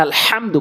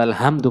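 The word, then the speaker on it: الحمد: বলা যাবে না ইহ আর এখানে আলহামদু বলতে হবে আলহামদু বলা যাবে না হা হা জবর হা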